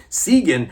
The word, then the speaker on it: Sigyn: I know I'm pronouncing correctly because I looked it up. Sigyn.